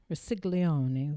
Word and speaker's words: Rossiglione: And right now, there are 2,000 people who live in this Rossiglione village. I'm sure I'm not pronouncing that right. It's Rossiglione.